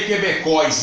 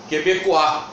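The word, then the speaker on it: Québécois: Se escreve desse jeito, não se lê Quebecóis não, Quebecois, tá?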